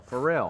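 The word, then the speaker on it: Pharrell: singer and she's with uh how do you pronounce his name oh uh farel farel I said farell but it's they farell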